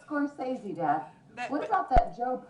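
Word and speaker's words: Scorsese: about actors he says Mar Martin scor cheesy yeah but no it's scorey Dad what about that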